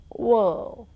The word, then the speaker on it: world: Similarly, when you say world, there is O and R coming together in that word in spelling. In pronunciation, it gives you world. And then you say L and D. You don't pronounce R at all.